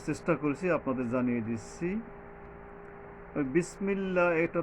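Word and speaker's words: بسم الله: আলিফ টানতে হবে বিসমিল্লাহ এই যে সিন এখানে সাবধান বিস বিসমিল্লাহযে পাতলাভাবে বিস সিনটা নিচের মাঝখানের দাগ থেকে পাতলা ভাবে অনেকটা কিছুটা বাতাস বের হয়ে যাবে এইরকমের পাতলা ভাবে হবে যেটা সওয়াদটা হবে শক্তভাবে বিসমিল্লাহির এইযে বিসমিল্লাহ এক আলিফ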